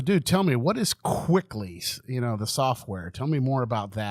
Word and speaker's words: Kwikly: I need a hygienist quickly. I need an assistant quickly. That's kind of cool. yeah. Thanks. It's spelled a little weird. It's KWIKLY, so it's quickly with a K.